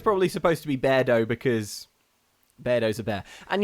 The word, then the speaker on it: Beardo: I was pronouncing it beardo to rhyme with weirdo because that's how it looks but I think it's probably supposed to be bear doe because bear doza bear